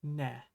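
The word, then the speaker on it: ね: This is ne.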